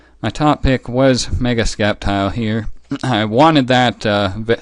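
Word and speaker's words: Sceptile: wanted to use Mega scap tile yes I pronounce it scap tile not septile if you're still not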